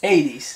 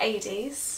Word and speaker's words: Hades: Hades. No, but it's pronounced Hades.